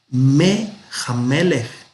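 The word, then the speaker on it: מֵהַמֶּלֶךְ: Resulta que esta letra nun a veces no se pronuncia, a veces se pierde. Entonces aquí al perderse, compensó la i y se hizo una sere. Y entonces tenemos Mehamelech, del rey.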